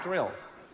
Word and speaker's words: Drill: Yes, Drill. No, not Daryl, Drill.